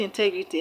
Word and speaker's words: integrity: For example, the word integrity has 4 syllables. Integrity. The third syllable from the end of the word is TE. That's why TE is being stressed.